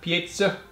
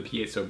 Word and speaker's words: piezo: it does have a piezo pickup people get fired up and say it wrong piezo pie zone chocolate pizza